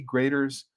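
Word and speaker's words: Graeter's: absolutely um greaters yeah you just you do spell it g AE graders um Anis is in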